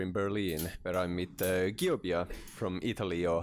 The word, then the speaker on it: Giöbia: Welcome to Heavy Psych Sounds Festival here in Berlin, where I'm with Giöbia from Italy, or how do you say the band's name? Giöbia.